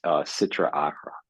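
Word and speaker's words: Sitra Achra: E of evil and the Hebrew word I believe is pronounced Citra arra the other side it's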